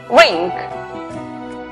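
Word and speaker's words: wring: La palabra torcer, que se escribe la W antes de R al comienzo, es muda. Por lo tanto, la pronunciación es rink.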